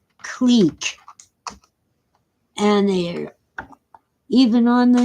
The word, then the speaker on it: clique: exclusive only the best people get in it's c-l-i-q-u-e and it's pronounced clique and their even on the news where they're supposed to be college educated they call it quick and they can't spell it right either they